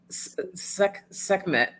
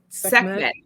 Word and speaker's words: Sekhmet: Schem- Oh, Sekhmet. Sekhmet.